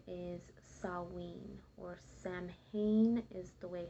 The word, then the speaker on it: Samhain: from so originally the name is salween or samhain is the way how um it looks like it's pronounced but it's actually pronounced sawwing and it was celebrated by pagan celebrators who